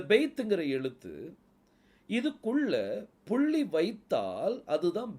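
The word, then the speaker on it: בית: அந்த மாடர்ன் ஹீப்ல இருக்குது இந்த பெய்துக்குள்ள புள்ளி இருந்தாதான் அதனுடைய உச்சரிப்பு வந்து ப அப்படின்னு சொல்லி வரும் அதாவது இங்கிலீஷ்ல பி அப்படிங்கிற சவுண்ட் என்ன செய்யும் வரும் அந்த பங்கு உச்சரிப்பு வர்றதுக்கு அந்த பெய்துக்குள்ள என்ன இருக்கணும் புள்ளி இருக்கணும் புள்ளி இல்ல அப்படின்னா அதனுடைய உச்சரிப்பு வெத்துன்னு சொல்லி ஆயிரும் வெத்து வ அப்படிங்கிற உச்சரிப்பு வரும் இங்கிலீஷ்ல வி அப்படிங்கறது இருக்கும் சோ இப்ப பெய்த்ல புள்ளி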